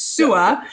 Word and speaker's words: Su'a: of you that are like how do you pronounce that awesome last name it's sua and um i got the uh pleasure of